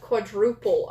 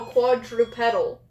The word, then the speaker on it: quadrupedal: Wait, a mix between bipedal and quadruple. I said it right? No, quadrupedal.